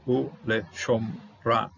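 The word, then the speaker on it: וּלְשָׁמְרָהּ: This one I will treat as a full out kamasatuv, closing the syllable, converting the sound from A to O, u le shomra, to take care of it.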